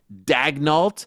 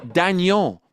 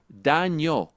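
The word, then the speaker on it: Daigneault: wait it's not Mark dagnal it's Mark Dano these are French names you know no one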